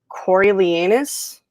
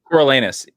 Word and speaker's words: Coriolanus: Coriolanus. Is that the Shakespeare play? Coriolanus.